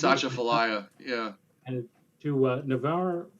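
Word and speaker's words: Atchafalaya: effect for the mouth i hope i pronounce this correctly for the mouth of the achifelaya river i think it's asha fellaia yeah and to uh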